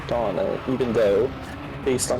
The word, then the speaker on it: Dona: always want to say Dona and I'm like no that's I I don't understand that cuz I see d o n a and I'm just like oh that's just Donna Donna the donut no